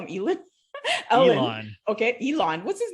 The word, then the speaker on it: Elon: I don't care if he's Elon Musk, you know, a genius. There's stuff that I know that I can teach Ellen. What do I call him? Elon?